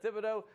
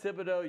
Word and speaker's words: Thibodeaux: You're Seth Thibodeaux. You spell it T-H-I-B-O-D-E-A-U-X, like we always say. Yeah. Thibodeaux is always kind of threw me for a loop because it's A-U-X with no E.